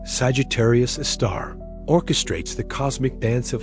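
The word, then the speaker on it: Sagittarius A*: This super massive black hole designated Sagittarius A asterisk pronounced Sagittarius a star orchestrates the cosmic dance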